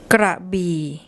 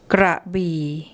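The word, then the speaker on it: กระบี่: ก ร ะ บ ี ่ ก ร ะ บ ี ่ ก ร ะ บ ี ่ And second one.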